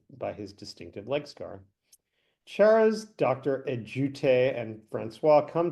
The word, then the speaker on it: Charas: It's like Charles, but without an L. Charas, Exactly.